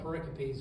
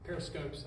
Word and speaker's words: pericope: of scripture next um call them pericopes or periscopes i think either one of those pronunciations are right well i'm going to